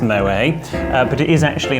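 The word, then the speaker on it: Moët: No, a lot of people mistakenly think it's pronounced Moet, but it is actually Moet because the French founder of the Champagne House actually has Dutch origin, and so it is pronounced Moet.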